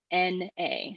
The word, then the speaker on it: na: birth infinity ta is life and the next syllable is na n a na and that's the ring finger and that